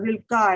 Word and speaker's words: Rilke: most worthy of friends, I quote Rilke, or Rilke as it's pronounced, one of Neelabh's favorite poets.